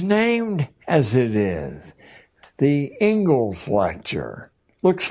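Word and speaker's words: Inglis: and education is named as it is the Engles lecture looks like English but it's pronounced Engles and I would like to read you the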